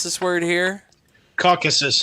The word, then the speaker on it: Caucasus: pronounce this word here caucuses caucasus mountains there you go caucuses like caucasian how do you not